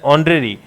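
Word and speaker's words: honorary: अब ये भी होरेरी है या ऑनरेरी है? इसमें भी एच जो है ना वो क्या है? साइलेंट है। तो स्टार्ट कहां से हुआ? ओ से। ठीक है? तो इसको जो बोला जाता है वो बोला जाता है ऑनरेरी।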